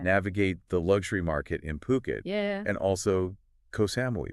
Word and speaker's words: Phuket: Phuket. Yeah, and that's actually how you pronounce it. Phuket, not Phuket.